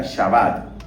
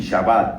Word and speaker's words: Shabbat: Eso significa Shabbat. Se escribe así, Shabbat, S-H-A-B-A-T.